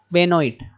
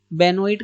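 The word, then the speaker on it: Benoit: अब woman named John बेनोइट, आप पढ़ेंगे कैसे? JOAN, जॉन पढ़ते हैं, यहाँ पे ए साइलेंट रहता है। JON John. और बेनोइट कैसे पढ़ेंगे? बी से बे, NOIT से नोइट।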